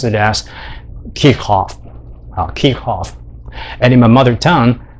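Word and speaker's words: Kirchhoff: maybe kirchoff but actually kirkhof is a is a german so if you want to pronounce it in a more german style you should pronounce it as kirkhof kikhoff and in my mother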